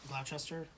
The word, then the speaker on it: Gloucester: Gloucester, yeah.